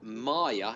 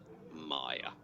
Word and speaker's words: Maya: we're currently in and maya is pronounced with the long hi Maya Maya Berger MP Jake